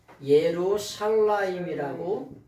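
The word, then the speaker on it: ירושלים: 이렇게 예루살렘을 이렇게 쓰는데 요거를 읽을 때에는 읽을 때에는 어떻게 읽으냐면은 예루살라임이라고 샬라임이라고 읽어요 예루살렘이라고 예루살렘이라고 읽는데 이건 뭐냐 하나님에 의해서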